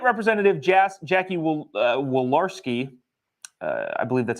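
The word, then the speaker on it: Walorski: article the late representative Jazz Jackie will uh wolarski uh I believe that's how you pronounce it um so if you remember she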